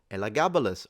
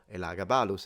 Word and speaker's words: Elagabalus: If Ridley Scott wanted to go for an emperor who was wearing makeup, he should have gone for Elagabalus, or Elagabalus, how it's pronounced in Latin.